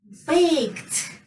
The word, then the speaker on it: baked: Baked. Yes, baked. So k is voiceless. That's why we say baked. We pronounce it as t.